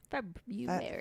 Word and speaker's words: February: Murphy's Burrow Murphy's oh instead of the r they neglect this R just like in the second month of the year which is February February February February it's